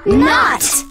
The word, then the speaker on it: knot: Knot! Excellent food, knot! K-N-O-T. And the K knot. Is silent.